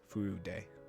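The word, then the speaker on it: Furude: a little weaker also someone corrected me on my pronunciation of wika's last name it's food day that I hope I said that right food Day food day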